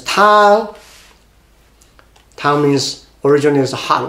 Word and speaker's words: 汤: Obviously, this part contribute 右边, 提供声音, contribute to pronunciation with the ng. That's tang.